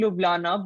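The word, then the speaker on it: Ljubljana: know like it was it's actually leblanc but it's written as l-g-u-b-l-j-u-b-l-a-n-a and i had no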